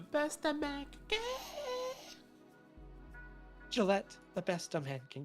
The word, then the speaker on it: Gillette: Did you ever pronounce Gillette as Gillette? Did I pronounce it as Gillette? You did pronounce it as Gillette. That's my bad. I definitely meant to say Gillette.